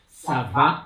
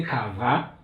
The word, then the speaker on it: ça va: You need to know how to pronounce it well. Ça va. So you don't say ça va, you say ça va.